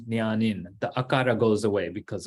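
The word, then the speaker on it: jñānin: So you see, jna plus in becomes nyanin.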